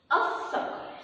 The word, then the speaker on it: الصقر: الصقر سمعنا صوت اللام؟ ما سمعناش صوت اللام.